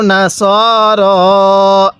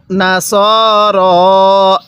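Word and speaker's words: نصر: হবে না এরপরে আও নাসর হ্যাঁ কিভাবে পড়ব আও নাসর এরকমভাবে পড়বো অনেকে আও নাসারা পড়ি যদি নাসারা পড়ি পড়াটা সহি শুদ্ধ হবে না কিভাবে পড়তে হবে আউ নাসর এরকমভাবে ভ পড়ব।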